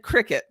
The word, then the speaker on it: Cricut: It's Oh, spelled Cricuk, but it said Cricut. It's uh-huh. it's spelled Cricut, but it's called Cricut.